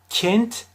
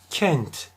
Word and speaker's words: kent: açık ne çok kapalı bir başka kelime kent kız Kent dersen kapatırsam Çok fazla yanlış olur Yine Kent dersem çok açmış olurum yine yanlış telaffuz olur peki doğrusu ne orta Ee telaffuzu olacak Kent dememiz gerekir